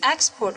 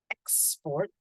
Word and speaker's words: export: The first one is export, clear, export. And then the second one is export, export. Okay, it's the schwa sound again.